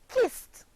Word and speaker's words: kissed: verb wal ke D and is pronounced what forming only one syllable by now I know